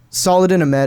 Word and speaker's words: Saladin Ahmed: I have a weird feeling that what's the pronunciation for the guy's name who does Miles, since you seem to have it actually? Saladin Ahmed is what I've always said.